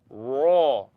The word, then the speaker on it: raw: Raw. Don't use your lips to pronounce raw.